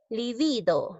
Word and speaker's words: libido: sano examen ahora vamos líbido es una palabra grave porque la mayor fuerza de voz recae en la sílaba número 2 esta palabra grave está